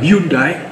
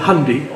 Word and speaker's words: Hyundai: pabrik mobil Korea Hai orang sini bilang Hyundai Bacanya adalah hundai pabrik mobil hundai di